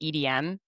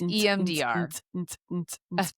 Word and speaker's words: EMDR: Which I always want to say EDM, you know, like No, you said it right. It's EMDR, like the dance music.